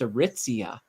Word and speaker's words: Aritzia: just like oh it's aritzia I think I was calling it a re something like that I it was just it was way off and I was just